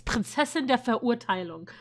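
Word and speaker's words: Prinzessin der Verurteilung: So if you guys want to know how that's actually pronounced, it's Princess in der Verurteilung, not however he said it.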